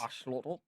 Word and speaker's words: axolotl: It's like learning how to pronounce axolotl, the proper way to pronounce it. It's Yes. axolotl.